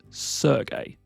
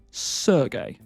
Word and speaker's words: Sergei: And this is a Slavic name, and it is pronounced Sergei. Sergei.